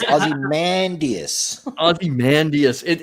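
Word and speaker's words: Ozymandias: great picking someone that nobody can pronounce their name aie mandus and it's Aussie mandus aie mandus it it's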